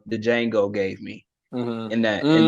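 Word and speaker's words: Django: my bad my bad the D is silent Jango make sure you say it right Jango my bad my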